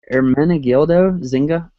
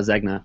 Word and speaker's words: Ermenegildo Zegna: So last thing I have here is, I'm gonna try to pronounce this. Maybe I won't butcher it too bad. My like Reikin does. it's Ermenegildo Zegna, or Zegna. Most people just call it Zegna, but it's super simple design.